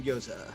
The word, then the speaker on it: gyoza: brought me complimentary uh giosa yosa appetizers is that how you pronounce it yep chicken gyoza yo appetizers so yesterday i